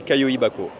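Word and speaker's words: Kayoibako: Alors moi je dirais Kaioi Bako. Kaioi Baiko. Kaioi Bako. Je crois que la boîte pratique. Bako c'est la boîte.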